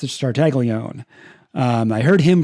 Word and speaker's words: Tartaglione: It's Tartaglione. It's not Tartaglione or Tartaglione or whatever. It's just Tartaglione. I heard him pronounce his own name.